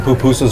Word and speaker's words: pupusa: So we've got some pupusas right here. Pupusa. The accents on the second syllable.